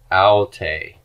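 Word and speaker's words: αὐτή: For the pronoun she, smooth breathing, and the accent is not on the first syllable, but on the second one.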